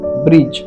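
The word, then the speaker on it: bridge: ব্রি এবং বর্গীয় জ ব্রিজ ব্রিজ তাহলে ইংরেজি শব্দের মধ্যে ডি এর পরে जी असले ডি উচ্চারিত হয় না আমরা আরেকটি উদাহরণের দিকে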